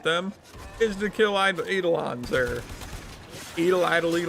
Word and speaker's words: Eidolon: was written i think i call it plains of edelon it's supposed to be plains of eidolon it's like really well